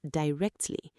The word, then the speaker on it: directly: Pronunciation, di-rect-ly. The stress is on the second part, rect, directly.